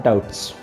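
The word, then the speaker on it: doubts: डाउट्स में जो spelling आती है उसमें हम बी का यूज़ नहीं करते हैं, क्योंकि जब भी इंग्लिश लैंग्वेज में बी टी से पहले आता है तो उसको हम साइलेंट कर देते हैं, तो ये होता है डाउट्स।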